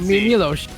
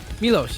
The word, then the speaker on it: Milos: You pronounce the S. Milos. Milos.